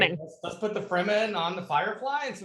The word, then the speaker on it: Fremen: And also something they have coming up, which is called Arrakis Dawn of the Freeman. Yeah, Fremen. Yeah. They spell it wrong. They spelled it wrong in the article.